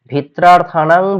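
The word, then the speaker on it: ভীত্রার্থানাং: ঠিক হয়েছে কি হবে ভিত্রার্থানাং ভয় হেতু এখানে বানানটা একটু ভুল রয়েছে তোমরা ঠিক করে নেবে উচ্চারণ হবে ভিত্রার থানাং ত রফালা আকার হবে ভিত্রারথানাং এখানে একটু বানানটা ভুল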